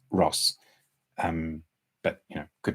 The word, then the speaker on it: Roos: see and somebody's saying isn't isn't the um name pronounced Rose now I I I have it on Fairly reliable Authority that it's Ross um but you know